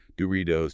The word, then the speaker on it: Doritos: All those T's between vowels because of the soft D flap. Doritos, Cheetos, Tostitos, and the sports drink Gatorade.